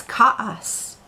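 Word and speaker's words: כעס: The Hebrew word for anger is ka'as. Kaf, ayin, samech. Ka'as. You pronounce that word chaos.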